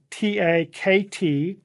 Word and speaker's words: takt: Now, it's spelled T-A-K-T, but it is pronounced just as if the K were a C, T-A-C-T, takt time.